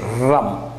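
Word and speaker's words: रं: And you need to say rum. You know the Russians pronunciation, rum.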